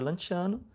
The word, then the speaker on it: Lanciano: Então, esse padre, lá na Itália, na cidade de Lanciano, se escreve Lanciano com C, né? Se pronuncia Lanciano, ele duvidou, e aí Nosso Senhor, por misericórdia até a nós, né?